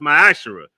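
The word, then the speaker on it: מעשר: and Malachi 3: 8-10 means 10th in the Hebrew and is pronounced my Asar 10% of every penny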